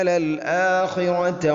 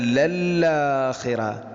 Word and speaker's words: للآخرة: ഇന്ന അലൈനാ ലൽ ഹുദ, ഇന്ന അലൈനാ ലൽ ഹുദ വഇന്ന ലനാ ലൽ ആഖിറത വൽ ഊല. ഇവിടെയും അതുപോലെ തന്നെ വഇന്ന ലനാ ലല്ലാഖിറ. അല്ല, ലല്ലാഖിറത. ഇതാണ് വളരെ ഗൗരവത്തിൽ ശ്രദ്ധിക്കേണ്ടത്. ലല്ലാഖിറത അല്ല ലൽ ആ. ഹംസ ഒരിക്കലും നഷ്ടപ്പെടരുത്.